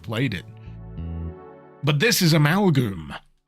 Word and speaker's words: Amalgoom: But this is Amalgoom. Not to be mispronounced as Amalon.